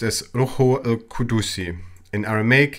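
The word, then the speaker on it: روح القدس: Holy Spirit in Arabic is pronounced as Ruhu al-Qudusi.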